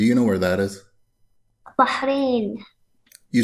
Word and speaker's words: Bahrain: from bahrain do you know where that is bahrain you said it right you pronounced it right you said you didn't say